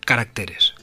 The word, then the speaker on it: caracteres: Algunos sustantivos al formar el plural cambian el acento de sílaba. Régimen, el plural regímenes. El singular es carácter y en plural caracteres.